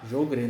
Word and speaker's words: Sjögren: Mas se escreve Sjogren, Isso. né? Jogren, né? Jogren ou Ou Sjögren, né? Sjögren também. Tem essas variações de falar.